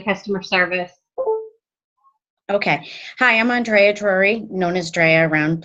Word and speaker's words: Andreya: Is that how you pronounce it, Andreya? It's Andreya, yeah, but I go by Dreya, so.